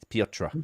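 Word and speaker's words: Piotr: that but the way the way the polish spell peter p-i-o-t-r is peter pietra because you're uneducated um then we've got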